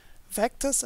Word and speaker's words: vctrs: created a package called vectors i think you pronounce it vctrs so no vowels in that package name but i'd pronounce it vectors and there's a function